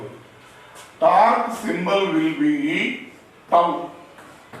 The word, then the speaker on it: Tau: Torque symbol will be tau. Right like this. This is the symbol of torque. Tau. How it will be pronounced?